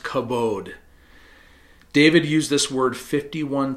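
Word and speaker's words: כבוד: In English, the word is usually written kavod and pronounced kabod.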